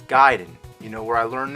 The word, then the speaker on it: Gaiden: ninja gaiden everyone always said ninja gayden but I know for a fact it's guiding you know where I